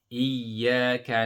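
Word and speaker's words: إِيَّاكَ: Remember the shadda, the first sound will be sukun and the second sound will be the one with the vowel. So iya, iya, and you hold the first sound and then you join it with the second.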